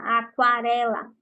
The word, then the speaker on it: aquarela: ok como assim professor aqui nós temos o exemplo da palavra aquarela aquarela prestem atenção eu estou pronunciando a letra u então aqui ó eu